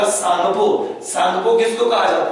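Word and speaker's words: Tsangpo: और T silent होगा, सांगपो।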